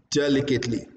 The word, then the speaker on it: delicately: For instance, number 1, we say the word is delicately. Delicately. Can you hear my pronunciation? Delicately. Where can you hear more? You hear more of there. All right? So the stressed part, the syllable of that word is there.